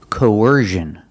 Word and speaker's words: coercion: look at this word coercion we see cion again but it's making a different sound it's not making the sh sound like in fish and wish it's making the zh sound like in Vision or decision it's the